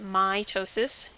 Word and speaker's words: mitosis: the words are said so mitosis if you emphasize the i sound you get mitosis is for cellular division